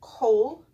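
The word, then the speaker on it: כל: And that will make a long O sound, kol, and it will have the dogish in it.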